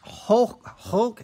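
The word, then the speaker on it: חֹק: It's pronounced hulk. It's kind of like a guttural sound in Hebrew. I've seen it written out like transliteration a lot of different ways. C-H-A-Q. K-H or K-H-O-K-E, I guess.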